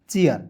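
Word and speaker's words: chair: तो यहां देखेंगे सी एच है तो च लिख दीजिए। ए आई आर है तो ए आर के रूप में उच्चारण करेंगे ना जी। तो हो जाएगा चेयर।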